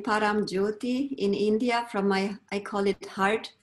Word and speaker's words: Paramjyoti: I will let you pronounce it so it's correctly pronounced. Yes, I received the name Paramjyoti in India from my, I call it heart family.